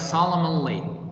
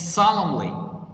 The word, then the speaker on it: solemnly: the next word solemnly the n is silent guys that's why it's in a red color here it's silent not pronounced so don't pronounce like solomon lee now this is wrong it's solemnly it's adverb and it